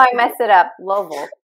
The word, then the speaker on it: Louisville: You just got to spend a little time here and you got to just say it quick, like Louisville. Make it as short and sweet as you can.